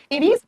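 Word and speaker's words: Aves: एवीज या एव्स कैसे भी प्रोनाउंस कर सकते हैं आप, हिंदी में एवीज लिखा जाता है बेटा।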